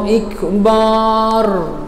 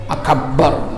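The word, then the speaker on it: أكبر: Allahu Akbar, akbar, nggak ada artinya akbar, salah. Akbar bukan akbar, paham ya? Nah, biar lebih mantap gitu Ustaz, akbar, nggak bisa, nggak ada mantep-mantepan di sini, salah.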